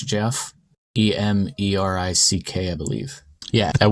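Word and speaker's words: Geoff: get it jeff emrick how do you spell it g-e-o-f british jeff e-m-e-r-i-c-k i believe yeah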